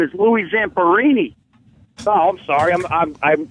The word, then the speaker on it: Louis Zamperini: Hey, O&A, this guy knows the story very well, but the fucking guy's name is Louis Zamperini. Oh, I'm sorry. I mispronounced his name. What'd you say? Zamperini.